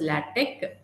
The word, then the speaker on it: LaTeX: So as the spelling says, it is LaTeX. Actually, it is pronounced as LaTeX.